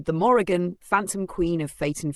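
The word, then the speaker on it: Morrígan: The Morgan, pronounced Morgan, is one of the most enigmatic and powerful goddesses of Irish paganism.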